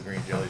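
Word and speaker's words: Green Jellÿ: the way all the Green Jelly pants Green Jello my dad's about to pass out over they like to correct you that even though the Y with little dots still is pronounced green jelly that's why they did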